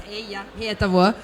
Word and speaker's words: Eija Hietavuo: You make me sound very exotic with your pronunciation of my name, which is a blunt, old-fashioned Finnish name, so it's Eija Hietavuo.